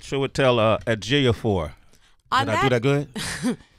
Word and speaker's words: Ejiofor: Okay, it's Ejiofor.